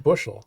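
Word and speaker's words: FBushel84: It's just bushel. Bushel. F Bushel Yeah. 84. The F is silent.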